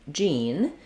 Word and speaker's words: Jean: jeans that we wear, we have the EA following a more typical rule of saying the E vowel. So usually vowel E, as in green tea, is spelled either with EA or EE. And when you see that combination, two E's or an EA, you can usually count on it being the E sound.